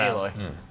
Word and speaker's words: Aloy: It's not Alloy. It's not Aloy.